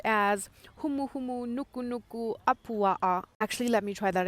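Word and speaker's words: humuhumunukunukuāpuaʻa: It's the state fish of Hawaii, the reef triggerfish, and it is pronounced as humu humu nuku nuku apua'a.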